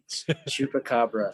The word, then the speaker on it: chupacabra: Also, can you pronounce the name of the mythical beast from Mexico for me? Chupacabra.